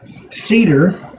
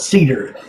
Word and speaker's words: Seedr: find extremely helpful so now just to let you know cedar it doesn't say it anywhere here but except up in the tab that's how it's spelled cedar this is an extension